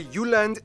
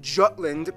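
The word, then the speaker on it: Jylland: full disclaimer ignore wikipedia i'm gonna pronounce the location names in their proper danish context so here we go denmark is made of the uland not jutland peninsula that connects to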